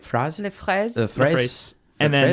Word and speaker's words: fraises: Fraz, right? Fraz? Les fraises.